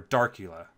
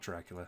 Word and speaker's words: Darcula: theme drop down check dracula or darcula not dracula i always pronounce it directly on my mind but it's darcula anyway i'll go ahead